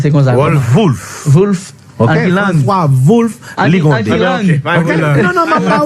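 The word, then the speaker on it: Wolff: Ça prononce comme ça. Wolf.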